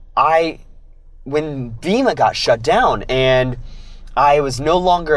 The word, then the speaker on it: Tao: thinking about the universe it's called Taoism and spelt ta o with pronunciation is for the D and the the first line of the Dow says if you name